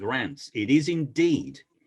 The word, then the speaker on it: Reims: But oh, well, Susan Hanlon's just said, and I think Reims is pronounced Rants. It is indeed. You have to have a bit of a guttural Rants to say it correctly.